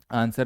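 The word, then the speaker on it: answer: आंसर में आप W को हटा भी दोगे फिर भी क्या पढ़ोगे इसे, आंसर।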